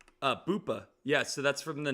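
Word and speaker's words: Boopa: Um how do you spell it? What's the ticker? Uh B O O P A. Uh, Bupa.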